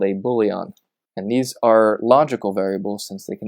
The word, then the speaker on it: boolean: is short for boolean, pronounced boolean. I once heard a girl in a programming conversation call it a boolean, and she lost all of her credibility because that is very silly.